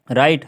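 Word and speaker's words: write: राइट है ना डब्लू डब्लू आर आई टी राइट होता है ठीक है तो हम इसको राइट करेंगे आर आई टी ई ये डब्लू साइलेंट हो जाएगा हम आर आर आई टी ई राइट ही पढ़ेंगे ठीक है तो कई लोग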